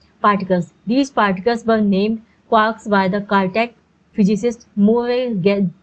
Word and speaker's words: quark: Three quarks for master mark. The word quark is supposed to be pronounced like quart, but with a K at the end instead of a T, but is usually pronounced to rhyme with rock.